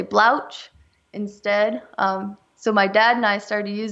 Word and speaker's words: Blauks: and how do you say it again blou blouch blouch that's that's really cool that's pretty funny